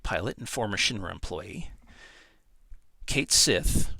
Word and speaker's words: Cait Sith: Cait Sith, or officially pronounced Cait Shi, the animatronic Mogul and